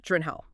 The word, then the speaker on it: Gyllenhaal: Says, "Basically, only people in Sweden and maybe IKEA get it right. The sources confirm his Swedish roots mean it's pronounced uh Drenhal."